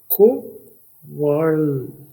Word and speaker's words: quarrel: और दूसरी आवाज UAREL ये असल में VARL की आवाज है, वर्ल को वर्ल। उर्दू में देखिए वाव रे लाम वर्ल को वर्ल। क्वर्ल इसका मतलब है झगड़ा करना या झगड़ा।